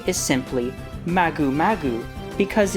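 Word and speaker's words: マグマ: Its Japanese name is Magukarugo, which is a combination of magma, pronounced as Maguma in Japanese, and escargot, which means snail in French.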